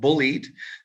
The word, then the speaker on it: Bullyid: and beautiful guest she is the founder of bullied that's bully with id bullied um she was